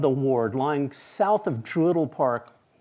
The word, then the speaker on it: Druid Hill: The portion of the ward lying south of Druidle Park, and that's how you say it in Baltimore, Druidle, bounded on the east by Mount Royal Terrace, south North Avenue, west and Reisterstown Road.